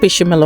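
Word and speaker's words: béchamel: Once again, I'll be preparing the bechamel sauce. Actually, I live in Sweden, so mostly we pronounce E with I, so it's like bechamel over here.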